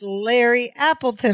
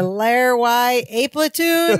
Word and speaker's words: Larry Appleton: And they have him mispronounce Larry Appleton's name. The package is addressed to Larry. He says, I have a package for Larry Y. A Platoon.